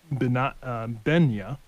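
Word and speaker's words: Binah: It's a feature inside of an app called Binya. It's spelled B-I-N-A.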